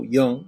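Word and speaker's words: Jung: by an individual called called young and so young is spelled Ju ng and called young and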